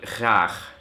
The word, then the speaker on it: graag: Also das niederländische Wort für gut, das wird so geschrieben und ausgesprochen ist es dann graag. Und da hat man diesen Scheißlaut schon zweimal drin und dann kommt meistens